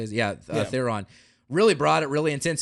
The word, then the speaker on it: Theron: Yeah, Theron.